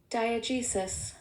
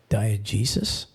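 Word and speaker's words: diegesis: a good one all right let's hear it diag jesis diag Jesus ready diag Jesus um sounds like something in the medical field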